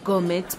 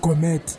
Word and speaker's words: gourmet: May I please have this gourmet pizza? Eh, my sister, up a jogger corner walk with me. Honey didn't sank away. Ma'am, it's not gourmet, it's gourmet. Does it taste different when I pronounce it right?